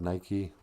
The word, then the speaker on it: Nike: just one brand of nike hey look at my new shoes they're white with a red swoosh they call them nikes you mean nike uh what oh sorry